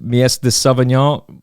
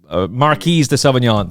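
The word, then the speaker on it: Marquise de Sévigné: by the draw, but why do I keep getting the pronunciation wrong? Because I'm a dum-dum. The French-trained, André Fabre-trained Mies de Savignon, Marquise de Savignon, thank you.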